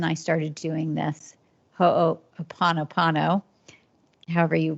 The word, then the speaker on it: Ho'oponopono: And so about a year, or maybe year and a half ago, my husband and I started doing this Ho'oponopono, however you pronounce it.